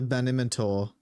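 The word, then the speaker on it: Banimintor: the last 15 years my name is master Ben imentor say that again master who please could you please spell that phonetically banor b a yeah so b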